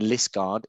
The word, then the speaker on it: Liskeard: So Mark is the chief instructor at the Combat Athletics Academy down in Liskeard in Cornwall. Is that correct? I pronounced that right?